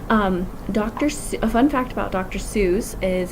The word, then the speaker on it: Seuss: Seuss is his name was supposed to rhyme with voice and not goose, but he didn't care